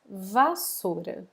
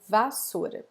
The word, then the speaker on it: vassoura: So this word we will pronounce like this, vassoura, vassoura, okay? Vassoura.